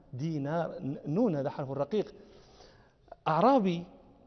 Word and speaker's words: دينار: النون رقيقة، النون حرف رقيق، لا نقول دينار، هذا نطق عجمي، نحن عرب نقول عبد الله بن دينار. دينار نون، هذا حرف رقيق